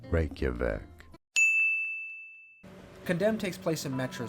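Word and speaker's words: Reykjavík: pronounce that we are looking at how to pronounce the name of the capital city of Iceland how do you say it Reykjavik Reykjavik condemn takes place in Metro City I can't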